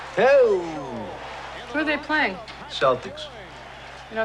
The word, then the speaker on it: Celtics: Celtics. You know, it's actually pronounced Celtic. What is? Celtic. You telling me the Boston Celtics are actually the Boston Celtics? That is correct.